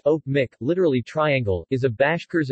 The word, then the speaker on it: Öçpoçmaq: ah Mack or cyrillic cpap Mack pronounced oak Mick literally triangle is a Bashkirs and toot our